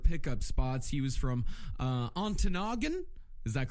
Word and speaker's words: Ontonagon: Yeah, I think it's pronounced Antonagon.